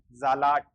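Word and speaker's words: Salat: जैसे इसका क्या बनेगा, जे, आ की मात्रा आ, जा, एल का ले, ए की मात्रा आ और टी का टे, जालाट, जालाट।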